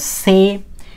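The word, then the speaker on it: つ: সু এখন কথা হলো টি এর পরে এস থাকলে কিন্তু এই টি এর উচ্চারণ হয় না যেমন সুনামি সুনামির ক্ষেত্রে টি এর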